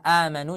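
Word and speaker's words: آمنوا: Ustaz, ada nggak kalau misalkan amanu dibacanya panjang? Ada di riwayat imam yang lain, ya. Ada di riwayat yang lain. Tapi karena kita sekarang belajar riwayat Imam Hafs, maka amanu cukup dibaca dua harakat saja.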